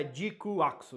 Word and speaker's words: GQuuuuuuX: E ela tá Jikuaksu, então não tem todos os U's não, é só um U mesmo.